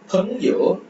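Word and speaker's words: 朋友: அடுத்து பங்யோ PENG பங் பங்யோ பங்யோ பங்யோ பங்யோ. ஸோ பார்த்தா பங்யோ பங்யோ பங்யோ பங்யோ பங்யோனா friend.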